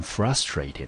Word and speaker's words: frustrating: 好，所以这个字呢，我们就念成 frustrating。